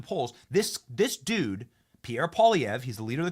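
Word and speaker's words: Poilievre: this dude named uh Pierre POV is the way you pronounce it and dude is uh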